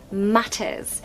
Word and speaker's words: matters: about the T sound here we have a Double T so we're definitely going to ramp up that t sound matters matters if I was was American I'd say matters and it's more of a D sound d d but no in British we say the T matters now if you want